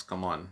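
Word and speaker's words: C'mon: up yeah like i didn't even know how to pronounce come on because there's just like c apostrophe m-o-n that was fun i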